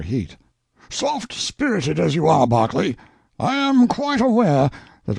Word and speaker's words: Berkeley: Pronounced Cubri Flanover Marshbanks sellers Viccount Barkley of Chumley Castle, Warkshire.